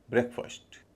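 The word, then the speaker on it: breakfast: यहां रोचक बात यह है कि जो पहला शब्द है बी आर इ ए के उसके उच्चारण में भी हल्का अंतर रहता है। बी आर इ ए के को अलग बोलेंगे। ब्रेक लंबा ए ब्रेक जब ये मिल जाते हैं तो उच्चारण होगा ब्रेकफास्ट ब्रेकफास्ट छोटा ए एन ओ बी ओ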